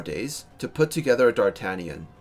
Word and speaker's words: d'Artagnan: of it as well it's supposed to be pronounced something like doc Canyon or something like that but I can't do it because I'm not French yeah I have one